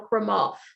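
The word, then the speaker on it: Crémant: Champagne region of France it's called a cremael the tea is silent and I tell you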